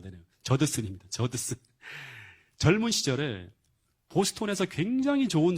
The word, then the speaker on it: 저드슨: 이 책의 내용을 보면 어떤 내용이 나오는가 하면 아도니람 저스틴이라고 하는 그런 이야기와 이 아도니람 저스틴의 그 아들 에드워드 저스틴의 이야기가 나오는데, 근데 이